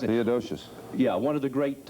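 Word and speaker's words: Theodosius: I know he is, but pronounce it. Theodosious.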